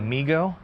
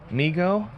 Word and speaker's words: Migo: would say, "Daddy, Migo, Migo." And it became kind of a family thing. And eventually that's uh where the company got named. So people saying MIGO or pronouncing it different ways. No, it's MIGO.